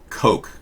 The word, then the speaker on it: Koch: word cook like the cook brothers the koch brothers it's pronounced coke as in yeah no